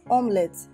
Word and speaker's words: omelette: melody it's pronounced as omelets say omelets why you go that's an omelet it's called omnis if i want pronunciation one after as omelette not omelette this e is silent let's assume there is